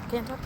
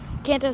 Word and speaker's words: Kanto: Uh, Kanto. Yeah, I said it right. Kanto Celebration.